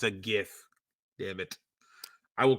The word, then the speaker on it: GIF: open up his mouth and he says it's pronounced Jiff it's GIF damn it all right GIF I'll always say GIF no matter what it's